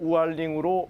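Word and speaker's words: 五二零: 5월 20일에 혼인건수가 급증했습니다 520은 중국어로 우얼링 발음되는데 널 사랑해란 뜻에 오와인 이와 발음이 비슷해이 젊은 세대 사이에서는 연인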